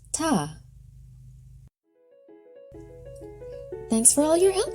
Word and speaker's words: Tet: Tet, pronounced ta.